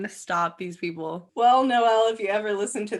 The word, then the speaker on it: HIJKMNO: And it's pronounced Noel. No. Because there's no L. HIJK, no L, MNO.